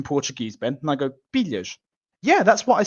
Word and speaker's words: pilhas: or did you say pilas? Oh. So he goes pilhas because he can't pronounce the l properly.